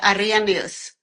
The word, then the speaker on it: Arrhenius: It's Arian. So, it was almost good. You don't have to pronounce the the R. I mean, it's just Arian.